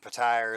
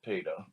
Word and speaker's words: Petyr: Some people pronounce it Petire, some people pronounce it Peter, and some people pronounce it somewhere in between, but it's all the same thing.